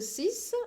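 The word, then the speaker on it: dix: this for 10 this it's like the sis I'm pronouncing the X as an S this then for 20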